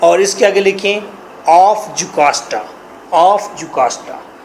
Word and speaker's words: Jocasta: लियास के स्पेलिंग हैं LAIUS, लियास। यहाँ पर क्वीन है, क्वीन जुकास्टा, उसके नीचे लिखेंगे क्वीन जुकास्टा, JOCASTA, जुकास्टा।